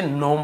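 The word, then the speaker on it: gnome: हुआ है सामने लेकिन हमें केवल इसे नोम पढ़ना है जी को नहीं पढ़ना है ये आपका जी का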